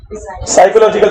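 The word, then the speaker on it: psychological: साइकोलॉजिकल, P silent होता है कि नहीं? बट पी को साइलेंट रह रहे हैं, लिख के बेइज्जती कर रहे हैं उसकी, इसको हम पी के साथ पढ़ेंगे। ऐसे क्या पढ़ेंगे? साइकोलॉजिकल factor.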